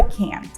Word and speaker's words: can't: скороченні давайте покажу вам якщо ви американець і хочете сказати cannot у скорочені ви скажете Can't якщо ви британець і